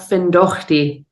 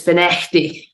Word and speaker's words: Findochty: It's not Findochty, it's Finechty."